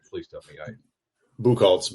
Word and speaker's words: Buchholtz: Buchholtz, but that's fine. Buchholtz. That's like Booker. Buchholtz. Again, in Kentucky, that would be Buchholtz.